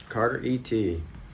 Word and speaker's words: Carteret: Carter E.T., which is pronounced Carteret, and it comes from Carteret County, North Carolina.